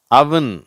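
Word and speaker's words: oven: Luck, monk, Musk, நன், once, அவன். சரியா? இது அவன்னு சொல்ல தேவையில்லை, அவன். இதை தப்பாக ஓவன்றாங்க, இந்த அடுப்பை ஓவன்றாங்க, அது அவன் அப்படின்னு சொல்லணும்.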